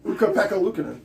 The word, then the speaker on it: Ukko-Pekka Luukkonen: Also, good luck pronouncing the name, Aaron. Yes. Yeah, that's funny. Oh, Ukko-Pekka Luukkonen. Ukko-Pekka Luukkonen.